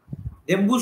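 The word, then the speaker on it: Ndembu: So Victor Turner, he studied Dembu Society, N-D-E-M-B-U, Dembu Society, N is silent, N-N-D-E-M-B-U of Africa, Dembu Society of Africa.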